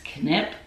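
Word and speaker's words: Kneipp: to pronounce it right i think it's canip k-n-e-i-p-b and it's mineral bath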